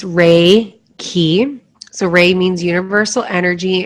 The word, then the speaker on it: Reiki: make you feel safe Reiki is pronounced ray key so ray means universal